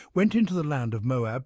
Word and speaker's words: Moab: into the land of Moab pronounced almost in one syllable to earn a living